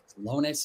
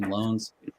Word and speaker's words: Lones: That we brought the decorating team, our graphic designer, Elizabeth Lones is how you pronounce her last name, Lones.